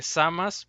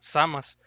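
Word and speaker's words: Zamasu: Pero bueno, también menciona Lalo que al parecer como Lalo pronuncia el nombre de Samas, parece que se va a pronunciar tal cual en Dragon Ball Super en latino, Samas. Así que para los que le decían Samasu o algunos Samatsu, pues lo siento, ¿no? Porque va a ser más apegado a la pronunciación original en japonés, así, Samas.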